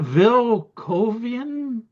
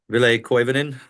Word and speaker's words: Ville Koivunen: Well, we got Vil Kovian. How do you say him? Ville Koivunen. That's what I said.